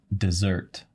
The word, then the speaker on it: dessert: desert desert desert yeah yeah which is um dessert dessert so this is a situation where the